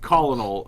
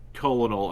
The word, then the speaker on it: colonel: and you were like colin all it's colonel i'm sorry i said it wrong and casey was still